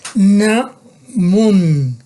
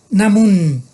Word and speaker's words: namun: Mannamun, namun, pronuncien bien, namun, namun, N dental, namun.